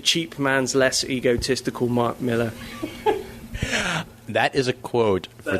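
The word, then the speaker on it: Millar: Joe Casada calls him Malar. Yeah. No matter how many times people are told, "No, no, it really is Miller. It's an A, but you pronounce it like an E."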